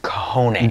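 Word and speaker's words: cajón: The box drum, or properly known as the Cajon, it's pronounced cajone.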